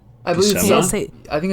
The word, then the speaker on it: Buscema: Okay, well, if it was a CH, then it would be Buscema, but it's not, so it'd be Bushima or Bushema.